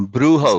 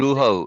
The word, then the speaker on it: brujo: The Brujo, Spanish word, brujo. In Spanish, the okay, J is pronounced as an H. okay, was a brujo.